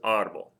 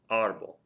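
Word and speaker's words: árbol: word we have is arble arble it's two syllables ends in something other than a vow ENT s and the stress is on that first to last syllable audible audible must have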